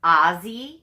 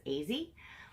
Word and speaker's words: Az: I wonder if it's now if it's pronounced AZ you know easy uh or Ozzy you know because a could be uh you know said it ah so is it Ozzy AZ so then I asked her you know how you know how you pronounce it and note it's easy and I said well